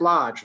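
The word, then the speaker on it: Loj: adirondack mountain club and it's spelled l-o-j uh why is it spelled l-o-j because melvin dewey creator of the dewey decimal system didn't like words that used phonetics with too many letters why have the d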